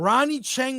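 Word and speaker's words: Ronny Chieng: Choice Association a AI aapi com award and Ronnie changen was there did I say it right yes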